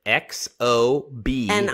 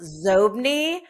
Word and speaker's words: Xobni: Yeah, it was originally pronounced Zobni, but Bill Gates pronounced it Xobni. So they changed the pronunciation of it.